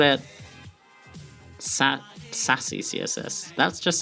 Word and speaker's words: Sass: Can I call it Sassy CSS? That just sounds weird as well. Sass is one syllable.